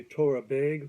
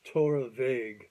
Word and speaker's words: Torabhaig: If you read it phonetically, you'd probably want to say Torabhaig, which is probably fine, but my understanding it's pronounced Torabhaig or Torabhaig.